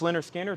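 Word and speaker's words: Lynyrd Skynyrd: there um next record is leonard skinner pronounced leonard skinner this is 37.99 and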